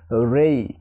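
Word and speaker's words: ray: যেমন উদাহরণস্বরূপ এখানে আর এ ওয়াই উচ্চারণ হবে রেই, রে হবে না, হবে কি রেই। তবে আমরা বাঙালি যারা বাংলাদেশ অথবা ভারত এরা কিন্তু রে উচ্চারণ করি, কিন্তু উচ্চারণটা সঠিক উচ্চারণ হচ্ছে রেই, রেই।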